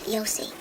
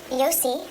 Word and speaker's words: Jose: Rabbi Jose the Galilean said, It's pronounced Yossi. The J is said like a Y. This didn't happen in Mexico. it's okay, dear. How could you know? Go on. Rabbi Yossi, the Galilean, said, how